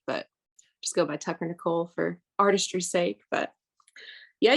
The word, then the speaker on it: Nichol: I'm with the one and the only Tucker Nicole um I I was like do I pronounce it nickel or Nicole and and that's you got it